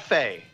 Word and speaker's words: Fe: February 16th Fe C it is called Fae so I've heard the developers talk about it they've call it Fae so it's spelled incorrectly